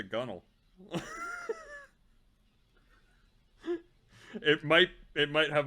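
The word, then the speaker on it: gunwale: your head off the gun whale yep oh is that what that actually is called we always called it the gunnel it might it might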